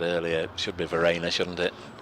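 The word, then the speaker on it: Verreynne: I've even phonetically written it down for you here, Verena, as in Ollie Rayner or Claire Rayner or T. Strainer.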